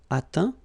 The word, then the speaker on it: atteint: Okay, as usual, final T not pronounced. Atteint, éteint. Fin, peint, teint.